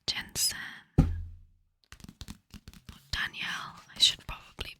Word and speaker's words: Danielle: that is the bridge Kingdom which is by Daniel L Jensen Danielle I should probably pronounce it the bridge Kingdom so yeah if